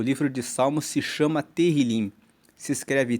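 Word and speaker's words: Tehilim: Tanto que no e no livro original, o livro de Salmo se chama Terilim. Se escreve T E H I L I M e Terilim quer dizer louvores.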